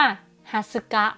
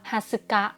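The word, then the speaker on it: 二十日: จู คิจิ จูคุ จิ ส่วน วัน ที่ 20 ค่ะ ก็ คือ อ่าน ว่า ฮั สึกะ ฮั สึกะ นะ อัน นี้ ระวัง ให้ ดี ลง ท้าย ด้วย กะ อีก แล้ว วน กลับ มา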